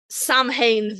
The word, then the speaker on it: Samhain: So Samhain the demon, which I will continue to pronounce like that because we're not talking about the holiday.